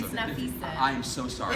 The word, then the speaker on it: Nafessa: Nafessa, have you had any... It's Nafisa.